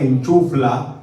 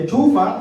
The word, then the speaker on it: enchufa: No se dice enchufla, se dice enchufa, y lo que está en la pared es no es el enchufe.